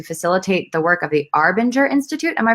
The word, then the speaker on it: Arbinger: He's also received licenses to facilitate the work of the Arbinger Institute. Am I pronouncing that correct?